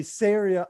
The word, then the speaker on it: Ceria: i'm going to say syria arse syria syria syria rhymes with area syria like rhymes with